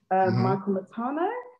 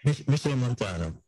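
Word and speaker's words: Machel Montano: Michael Matano, was it? Who? Michael Matano? Am I saying it right? Michelle Montano.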